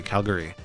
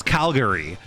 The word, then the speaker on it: Calgary: Calgary, you might say Calgary, where like there's that but in reality, I'm gonna pronounce it Calgary, where that gary at the end becomes a schwa, where like it's like basically unpronounced. So you can just release it.